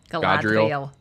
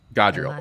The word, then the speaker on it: Galadriel: I don't know, mispronounced because I ran it. God, can somebody say her name one time? Galadriel. Yeah. Galadriel.